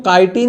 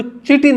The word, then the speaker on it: chitin: इसको काइटिन ही प्रोनाउंस करेंगे, इसको चिटिन नहीं बोलेंगे. कुछ बच्चे बोल देते हैं, बच्चे तो कुछ भी बोल देते हैं.